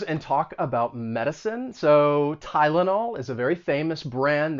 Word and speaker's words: Tylenol: are not too similar that y is pronounced with the long i sound tai and then the second syllable has the schwa tai la nal tylenol and then there's benadryl